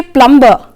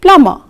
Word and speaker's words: plumber: And even here, you don't say plumber, you should say plumber.